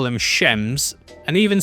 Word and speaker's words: Shems: Another funny bit in the book is that they also call them shems and even spell it out s h e ms. Shems. So you can hear it as you read it, which is nice.